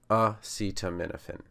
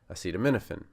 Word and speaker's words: acetaminophen: If you put the accent on the wrong place, then it just doesn't sound right.